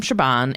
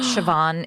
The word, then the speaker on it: Siobhan: has a sketch from Siobhan and fingerprint showed up Siobhan oh my God I can't believe I wrote Shaban this whole time why was I saying Shiva it's spelled Siobhan but it's stupid it's